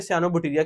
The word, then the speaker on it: cyanobacteria: ये साइनोबैक्टीरिया word है इसकी प्रोनाउंसिएशन है साइनोबैक्टीरिया। ये जो वर्ड है, ये जो ये सयान है, दैट इज सयान कलर, दिस इज सायन सयान। जब इसको सयानों में पढ़ेंगे उसको बोलेंगे साइनोबैक्टीरिया।